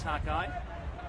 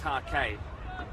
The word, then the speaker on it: Take: I also mispronounces Takai. It's Take.